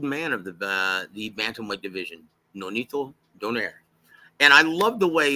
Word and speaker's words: Donaire: of the bantamweight division, Nonito Donaire. And I love the way Lupe announces it because he pronounces his surname the way it's supposed to be pronounced, right? Introducing the Filipino Flash, Nonito Donaire.